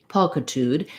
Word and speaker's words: pulchritude: that with a uh if i write um u l l you'll think of pull which is an uh vowel and here it's ah so that's kind of